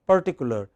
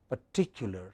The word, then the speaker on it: particular: pay some attention similarly it is not particular but particular what is it I